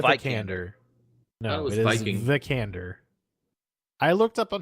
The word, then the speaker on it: Vikander: Vikander. I looked up on how to pronounce this earlier, so don't fucking call me out on my shit.